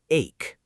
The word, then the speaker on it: ache: It sounds like the letter A and then a K sound, ache.